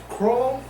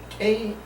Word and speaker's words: Krull: yesterday I watched Crawl. How you say it? Crawl? K-R-U-L-L? Krull. Crawl.